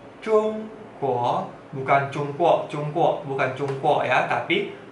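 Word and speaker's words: 中国: Negara Tiongkok bahasa Mandarinnya zhongguo, zhongguo, zhongguo, zhongguo. Ya, sekali lagi, Zhong Guo, Zhong nada satu, Guo nada dua. Zhong Guo, Zhong Guo, bukan Zhong Guo, Zhong Guo, bukan Zhong Guo ya, tapi Zhong Guo, Zhong Guo.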